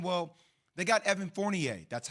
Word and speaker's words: Fournier: right and everybody's saying well they got evan fournier that's how you pronounce his name for everybody out there fournier talented player averaging 19 points can shoot the